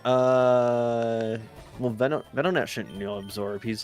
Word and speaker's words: Venonat: I actually, you know what? This has been a trend with me where I correct pronunciations on Pokemon names that I have made by reading them. And I've just always just... I think a gnat is a bug, so Venonat makes sense. Like a venom and gnat.